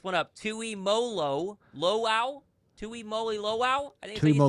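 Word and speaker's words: Tuimoloau: Tui Moly Lo.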